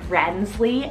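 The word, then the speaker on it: Renzley: charm and tenderness I have rensely spell r-e-n-z-l-e-y rensley I love the ZET in there personally that's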